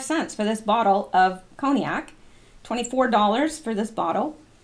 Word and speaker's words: cognac: original cream makers mark I know I pronounced that wrong before but it's coke it's cognac and some of this Bacardi